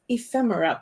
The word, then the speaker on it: ephemera: and then we have ephemera packs and that is the correct way to say it ephemera is just little